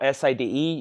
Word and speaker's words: Sade: I know it's spelled S-A-D-E. You pronounce it Sade.